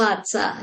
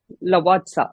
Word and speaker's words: Lavazza: Lavazza, is that how it is pronounced? Lavazza, yeah. Lavazza.